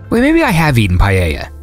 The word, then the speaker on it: paella: And there's a funny thing because everyone out of Spain says paella, and it's not like that. You're pronouncing it like it has like a double L. I mean, it's paella.